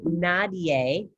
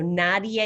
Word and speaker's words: nadie: the right thing okay so it's actually nadier i'll help you up we'll do a little repeat in a minute so nadia is nobody good never is